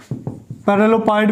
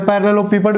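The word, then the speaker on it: parallelepiped: और ये जो ट्रिपल प्रोडक्ट है, स्केलर ट्रिपल प्रोडक्ट, ये किसको रिप्रेजेंट करता है भी, वॉल्यूम ऑफ पैरेललोपेपाइड। ठीक है ना, पैरेललोपाइड भी बोल सकते हैं इसको, या पैरेललोपेपाइड भी बोल सकते हैं।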